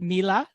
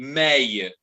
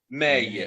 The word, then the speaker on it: Meille: Is it Mila? No, Okay, no. It's okay. fair. It's a French surname, so it's the right pronunciation should be Meille. Meille.